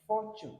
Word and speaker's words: fortune: Then fortune. You can't say fortune. It's not T. It's ch. Fortune. So though it is T and U, so you pronounce both as ch together.